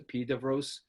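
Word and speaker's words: Epidaurus: ancient site that's called it's spelled epiduras it's pronounced the pied of rose it was it's got a huge beautiful 14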